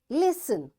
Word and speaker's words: listen: Listen, fasten, castle, often, whistle, soften, hasten, bustle, and gourmet. In all these words, letter T is silent.